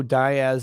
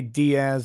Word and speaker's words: Diaz: You say Diaz, I say Diaz.